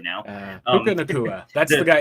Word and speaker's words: Puka Nacua: course, the new wide receiver that I can't pronounce his name, and I'm not going to try right now. Puka Nacua. That's the guy. It's like Yeah, there Hakuna you go. Matata, Puka Nacua, same thing.